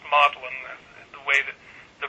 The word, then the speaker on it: Magdalene: Cambridge is actually written Magdalene Magdalena College but pronounced Modellin that's the way that the Brits sometimes strange ways of putting words out.